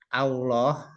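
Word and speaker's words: الله: Nah, sama seperti ketika kita mengucapkan lafadz Allah, nah itu yang betul a, bukan o. Hati-hati ya. Ketika takbir Allah, nah, bukan Allah. Asalnya awalannya kan a, gitu, bukan o.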